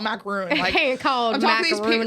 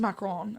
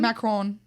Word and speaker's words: macaron: okay I can't stop I can't call macaroon people who are like from France yeah and they're like a macron and I'm like oh fudgsicle how do you say it say it one more time macron macron I think so and honestly someone